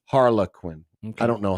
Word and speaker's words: Harlequin: har um Harley Quinn it's the brand it's the publisher not Harley Quinn harlequinn I don't know how